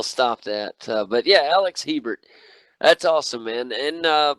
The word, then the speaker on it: Hebert: Hebert yeah thanks Le at least you didn't say Herbert that's usually what I get oh